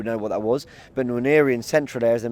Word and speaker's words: Nwaneri: How do you pronounce that? Nwaneri.